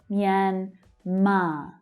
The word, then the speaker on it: Myanmar: But it's the second syllable that is stressed. Myanmar, Myanmar, Myanmar.